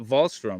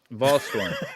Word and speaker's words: Volstorm: Is it Volstrom, right? Volstrom? Am I saying it right? Storm. Volstorm. See, I'm horrible.